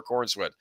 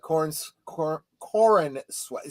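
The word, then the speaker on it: Corenswet: First, it kind of elevates Corn Sweat. See, that's the way it's spelled.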